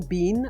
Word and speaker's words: bin: I pronounce it the way that I just did, with the vowel in sit. Saying bean, ugh.